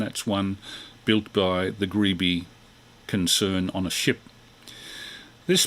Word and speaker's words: Grebe: western electric carbon microphone alfred gree greeby i should say with the vhf transmitter